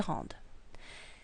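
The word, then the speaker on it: rendent: rendons, vous rendez, il rende. Now this word, and this word are all pronounced rend. You don't pronounce the D or the S. This word is pronounced rende, so you do pronounce the D.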